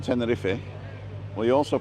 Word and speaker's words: Tenerife: there I love teni you know how you pronounce the e in Tenerife well you also pronounced